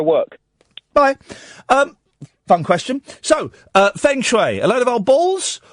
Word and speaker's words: Feng Shui: So, the first things first, what exactly is Feng Shui? And am I pronouncing it properly?